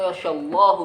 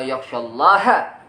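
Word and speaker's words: يخشى الله: Innama yakhsyallahu min ibadihi ulama. Apa artinya? Allah takut kepada ulama. Yang benar bacanya innama yakhsyallaha min ibadihi ulama. Allah maf'ul, ulama fa'il.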